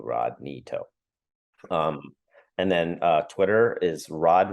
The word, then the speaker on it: Rodney To: My Instagram is Rodney To, and it's how my name is spelled phonetically. RODKNEETOW, Rodney To.